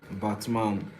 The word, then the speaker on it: Batman: And it's like it's literally pronounced like Batman.